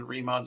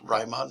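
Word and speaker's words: Riemann: accumulation of change in remon sums uh I've also heard it pronounced Ryon sums actually let me back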